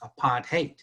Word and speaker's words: apartheid: the chat, that it really is how it's pronounced, apartheid.